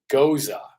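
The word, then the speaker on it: Gose: Friday May 31st 5 to 7 PM Ros goza but the way it's spelled it looks like it would be almost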